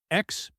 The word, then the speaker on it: experience: Word 4, experience. The stress is on the second syllable. Repeat, experience.